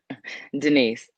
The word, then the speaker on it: Denice: then okay is it i'm sorry is it denies or denise i don't want that's not your name denise denise no because my name is comedian and i never get it pronounced that way it's always good not kamisha